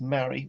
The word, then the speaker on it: Mari: and yes we've worked out there is actually pronounced mary we went in in depth and this is